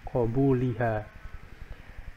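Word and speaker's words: قَبُولِهَا: Ingat ini adalah bacanya adalah qo dengan fathah qobuliha dan wau di sini adalah huruf atof.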